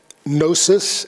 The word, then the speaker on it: gnosis: although it surfaced in many currents that are still alive today gnosis is the way that's pronounced it comes from the Greek gnosis which